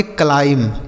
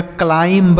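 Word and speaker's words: climb: क्लाइमब नहीं पढ़ा जाएगा। क्लाइम। हमने आपको अभी सिखाया कि जहां पर भी एम के साथ बी लिखा होता है वहां बी साइलेंट होता है। तो आप देखिए कि यहां पर भी एम के साथ बी लिखा है। तो यानी बी यहां पर साइलेंट होगा।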